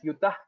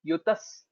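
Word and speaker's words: युतस्: Okay, you are telling it as Yutah Sahasraihi. Yutas. You can tell a Sakara. Yutas Sahasraihi.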